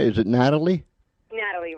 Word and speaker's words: Nathalie: name right is it Natalie Natalie right Natalie how see I get brain cramps every now and then I no it's okay listen it's the H that throws people off doing my whole life